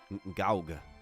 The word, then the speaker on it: Goug: city they call well I've always called it go machine city but this is called clock C clockwork city of like goug or something gaug is how they're pronouncing it and then we have